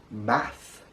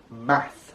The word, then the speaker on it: Math: magician a magician king math math very easy just like mathematics math math app you'll see